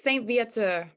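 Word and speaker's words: St-Viateur: Montreal Canada delivered right Becky how do I pronounce this correct directly I keep butchering the name it's okay it's Saint via to okay so tell us about this why is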